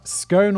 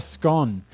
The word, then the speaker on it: Scone: stone of scone uh scone or scone i think that there are two kind of accepted pronunciations of scone in the uk i feel like scone is a slightly posher way of saying it also this is called